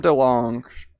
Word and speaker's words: DeLonge: So, Tom DeLonge DeLonge. It's like DeLong, but it's spelled DeLonge.